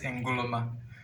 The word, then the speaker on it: Nkrumah: We pronounce it Ngoloma.